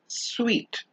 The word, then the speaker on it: suite: suit versus sweet remember the one with the e at the end is pronounced sweet the word suit has